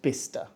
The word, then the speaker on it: Bicester: saying all three syllables just stop the name is not fancy it's just bister B is famous for